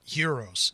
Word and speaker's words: gyros: um that and and gyros or heroes i'm sorry gotta it's not a hard g it's a light g heroes um in and made